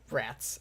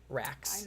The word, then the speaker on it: Rugrats: Rats. It's rats, not racks.